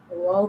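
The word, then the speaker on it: واو: Wow pronounced from the rounding the both lips.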